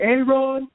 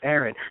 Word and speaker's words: Aaron: they saying things like a a-rod it's like actually it's pronounced Aaron shut the hell up ay-ay